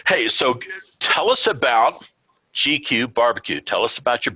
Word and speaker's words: G-Que: we have jason ganahl he's the founder of gq barbecue and he is the maestro of meat